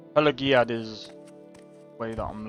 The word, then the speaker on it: Pelagiad: Pelaziad. That's how you pronounce it, Pelaziad. But that's G. It's got a G in it.